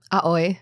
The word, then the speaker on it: Aoi: Aoi.